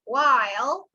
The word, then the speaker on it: while: This is while. It's not will, it's while. That's the sound.